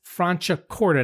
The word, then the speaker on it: Franciacorta: and I should have mentioned this earlier, but the wine is spelled Franciacorta.